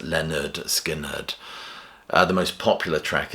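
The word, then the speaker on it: Lynyrd Skynyrd: So number 10 is Leonard Skinnard and pronounced Leonard Skinnard.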